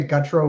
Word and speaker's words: Gutro: I pronounce it Gutro, but other people pronounce it however they want, so that's fine.